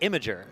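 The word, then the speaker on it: Imgur: supposed to be pronounced Imager. That's why like like the G is supposed to be soft and imager makes you know makes sense but I I read it as immigr as well.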